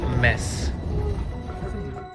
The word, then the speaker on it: Metz: We're going to a city that's literally pronounced Metz.